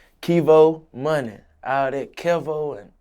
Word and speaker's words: Kevo: Kevo Muney. All that Kevo and all that shit. That shit weak. That shit ain't none of me. My name Kevo. Kevo.